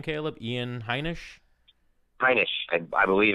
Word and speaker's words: Heinisch: So Ian, how do you pronounce his name, Caleb? Ian Heinisch? Heinisch.